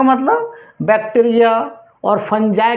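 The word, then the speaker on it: fungi: Bacteria या तो फंजाई के प्रेजेंट में रिएक्शंस होगा, क्योंकि फंगी बोलता है लेकिन फंजाई इसका मेन प्रोनाउंस होता है, फंजाई।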